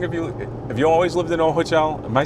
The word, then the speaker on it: Ojochal: And how long have you always lived in Ojochal? Am I saying that right? I mispronounced that. Yeah, Ojochal, perfect.